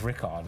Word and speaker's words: Richard: Richard and then there's Richie and then there's Rickard yeah right okay but we yeah what do you prefer I prefer Richard actually or Richie okay friends call me Richie